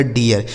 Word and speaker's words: dear: र, ये लिखा गया डियर। इसे डीर नहीं पढ़ेंगे, डियर।